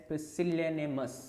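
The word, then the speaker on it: pusillanimous: जो है वो है इफ you pronounce it you will you can pronounce it एज पसिल निमस okay पसिल निमस which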